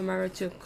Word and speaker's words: Marduk: old old Babylonian period support the pronunciation of Maru or maruk with a shorten spell spelling maruk or Muk ATT testing it tested